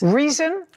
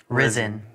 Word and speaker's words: Rizin: Reason? Risen. Risen. Spell it.